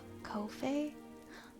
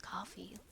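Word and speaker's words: Ko-fi: At first I said Kofi. I said Kofi forever. And then someone else just said it's pronounced coffee. Like, buy me a coffee.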